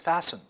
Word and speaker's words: fasten: Fasten, fasten. We cannot fasten. No, it's fasten, okay?